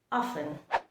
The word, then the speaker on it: often: So the first word that I'll be explaining today is often. O-F-T-E-N. O-F-T-E-N. That is the spelling of this word. The correct pronunciation is often.